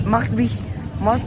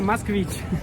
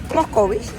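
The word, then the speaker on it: Москвич: Me dice, Moskvich. Dilo tú, por favor. Moskvich. Max. Se pronuncia Moskvich. Moskvich. Bueno, me acabo de enterar a lo que nosotros le decimos Moscovich, pero es Moskvich.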